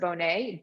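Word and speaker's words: Bohnet: There's a book by Iris, spelled like Iris, like the flower, but pronounced Iris Bonet, B-O-H-N-E-T.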